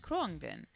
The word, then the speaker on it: Khruangbin: to love saying it it's actually pronounced cron bin and I would just sort of go around saying Krong Ben and we were listening